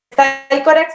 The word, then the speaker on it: Psychorax: llama Psychorax Literaturas Feministas, se escribe Psychorax con Y, así también está en Facebook y así también está en Instagram. Psychorax, con X al final, Literaturas Feministas. Se dice Psychorax, bueno, es un personaje